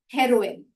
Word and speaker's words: heroine: अब हम ज्यादातर के इसका प्रोनाउंसिएशन ऐसे नहीं करते, पर जो करेक्ट प्रोनाउंसिएशन वो है हेरोइन। और अगर आप देखेंगे तो जो चरस गांजे वाला हेरोइन है, जिसकी स्पेलिंग में ई नहीं आता, HEROIN, वो हेरोइन भी इसी तरह से उच्चारित होता है। तो दोनों शब्दों का मतलब तो बहुत अलग है, पर उच्चारण एक सरीखा है, हेरोइन।